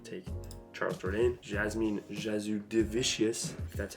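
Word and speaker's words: Jasudavicius: so I'm going to take Charles jordane Jasmine jazu divicious that's how you say it she's winning my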